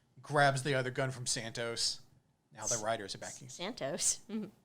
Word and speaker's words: Santo: the other gun from santos now the writers are backing santos santo vega i keep thinking santos escobar it's really it's pronounced santo but whatever either way it